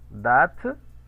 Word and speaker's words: date: En el caso de la E final, date, ¿eh? Aquí está la E final que no se pronuncia, date de naissance.